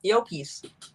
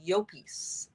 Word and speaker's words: Llopis: Yeah, Llopis. Because double L in Spanish, you pronounce the Y. it like a Y. So it's Llopis.